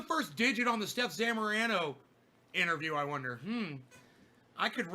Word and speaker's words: Zamorano: Stef Zamorano. Believe that is the correct way to say her last name.